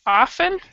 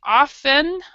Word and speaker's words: often: And just as far as pronunciation goes, this word often has 2 distinct pronunciations. Both of them are spoken by native speakers, and both of them it has nothing to do with British English or American English.